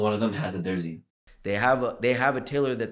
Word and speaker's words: Darzi: So I say it in the Indian accent, Darzi, that's how you say it.